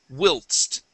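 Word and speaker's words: whilst: excellent okay now though this next word looks like while okay we do not use a long I sound here this is wilst Wil there you go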